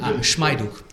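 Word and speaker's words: Schuck: pronounce in English Okay most people say schuk yeah yeah so schuk okay yeah so uh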